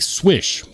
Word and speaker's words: Swish: Pavelski says it is definitely pronounced like Swish, Polish last name of the designer, and that's exactly how it sounds.